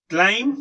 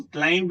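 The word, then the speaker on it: climb: लैप, rat, glass, one speak with me, glass, grass, collect, correct, क्लाइम, क्लाइंब नहीं, क्लाइम, क्राइम, let, red, red, lane, rain, light, right, glow, grow, cloud and crowd.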